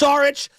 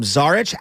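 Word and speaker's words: Šarić: to him whether it's sarich by the way the national broadcast calls him zarich am I pronouncing it wrong sarich I thought zarich it's like a sa shich shich okay I just want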